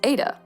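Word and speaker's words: Ai-Da: as being real is Ada whose name is actually a really cute little pun because she's named after Ada Lovelace but her name is spelled a i hyphen duh and that's just undeniably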